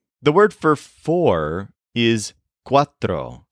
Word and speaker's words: cuatro: to some numbers the word for four is Quatro spelled c u a t r o and